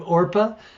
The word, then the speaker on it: Orpah: Thich Nhat Hanh and Oprah. I always think of Orpah. She was actually named Orpah after the character in the book of Ruth, and she could never pronounce it, so she went by Oprah.